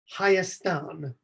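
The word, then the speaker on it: Hayastan: that's spelled h-a-y and the name for their country is hyastan haik was one of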